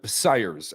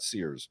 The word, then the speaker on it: Syers: pronounced my entire life unless you're part of the Cyrus family and then we'll tell you it's sires not Sears but uh yeah in